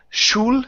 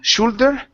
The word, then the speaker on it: shoulder: and let's go to this word here which is shoulder instead of shul shoulder sho sho shoulder shoulder good long time shoulder yo